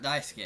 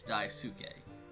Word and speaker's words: Daisuke: it's dive suit gay daisuke's so it's not dice que it's dive suit gay okay Nina chick confirm that cuz I wasn't